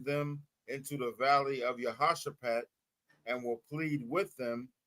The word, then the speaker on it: Jehoshaphat: So Jehoshaphat. That's how you pronounce that.